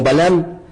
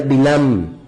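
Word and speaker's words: בלעם: Y tenemos también otro varón que se le conoce en el español como Balam, cuya pronunciación en hebreo sería Bilam, que significa no pueblo.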